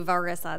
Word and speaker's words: Verissa: It's like Marissa with a V, Verissa, that's how you say it.